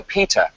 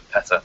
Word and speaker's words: PETA: America in the 80s it's pronounced Peter as opposed to Peta which is one of